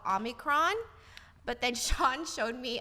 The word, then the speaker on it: omicron: developments on the new omicron coronavirus that's how we say it the name is omicron omicron omicron this new uh oh my crown vamos yeah i might be messing up the pronunciation of this the correct one